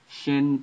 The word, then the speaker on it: Shin: Shin is the SH sound, sh, but it can be pronounced as a S sound, in regular S sound.